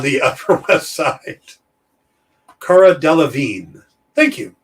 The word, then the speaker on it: Delevingne: murderific building on the upper west side cara delevingne thank you delevine there we go it's just got a lot